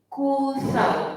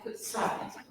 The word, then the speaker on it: Kutha: Okey, Kutha, bukan Kutsa. Kutha. Ejaan dia Kutha.